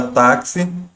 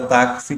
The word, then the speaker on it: táxi: O X ele tem som de KS, então se a gente fosse escrever, você veria que a escrita é diferente, é como se fosse táxi com KS, por exemplo.